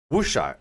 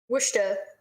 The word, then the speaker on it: Worcester: and i'm telling you it's pronounced what shot wusha which dog worcester okay i don't know